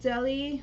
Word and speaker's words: Delhi: okay so this is called delhi or how do you say this it's deli right police personnel's car falls